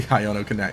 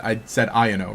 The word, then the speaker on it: Iono: Because here I am, I said Iono, right? And you get someone who comes in and says, you know, who says it's pronounced Iono because in Japanese that's how it would be pronounced.